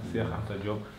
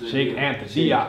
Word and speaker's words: Cheikh Anta Diop: Cheikh Anta Diop. That's how it's pronounced? Yes. Say it again? Cheikh Anta Diop. Cheikh Anta Diop. You probably heard the U.S. pronunciation. Sheikh Anta Diop.